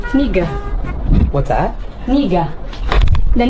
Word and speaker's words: Niga: Niga. What's that? Niga. The name. Wait, how do you say it? Niga.